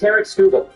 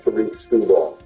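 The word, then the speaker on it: Tarik Skubal: It's Tarek Skubal. Oh, I thought it was pronounced Tariq Skubal.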